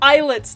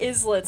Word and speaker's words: islets: They're eyelets, not islets.